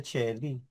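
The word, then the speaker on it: caeli: heaven nga sa ano sa Latin Shelly eh ang spelling C o E L I ' ba pero ang pronunciation niya Chelly M Regina Chelly tama bad Jerome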